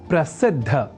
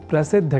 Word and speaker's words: प्रसिद्ध: समझकर या न लिखकर हम प्रसिद्ध अर्थात द और बाद में ध इस अक्षर विन्यास से युक्त शब्द प्रसिद्ध का ही लेखन और तदनुसार शुद्ध उच्चारण करेंगे।